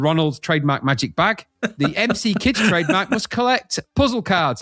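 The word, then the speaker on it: McKids: That's pronounced MC kids by the way in case you didn't know what MC is.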